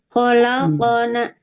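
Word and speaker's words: خلقنا: Kholaqona, seakan-akan kholaqona ya. Tapi sebetulnya sukun.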